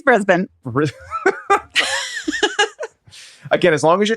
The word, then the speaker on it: Brisbane: Erin, how do you pronounce this one? This one is Brisbane. Brisbane, spelled Brisbane. You may have called it Brisbane. It's Brisbane.